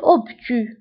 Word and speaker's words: obtus: زاوية منفرجة un angle obtus un angle obtus un angle obtus. فهنا بالنسبة للأوبتو كنكتبوها بأس في آخر الكلمة ولكن لا تنطق obtus أو زاوية منفرجة.